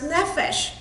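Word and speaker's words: נפש: The original Hebrew word for soul is pronounced nephesh.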